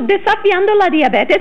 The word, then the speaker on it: desafiando la diabetes: So, desafiando la diabetes, and you did pronounce it correctly.